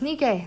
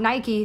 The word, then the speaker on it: Nike: Yes, Nike, that's how you properly pronounce it. Goddess of Victory Nike, not Nike, the sports brand.